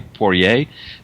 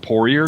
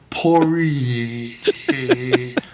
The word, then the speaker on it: Poirier: more the French way, Poirier, and then I call it Poirier, just like because our family's just kind of anglicized it.